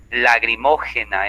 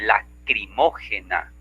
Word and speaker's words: lacrimógena: O cuando decimos lagrimógena en vez de lacrimógena y le cambiamos la pronunciación, pues también cometemos barbarismo.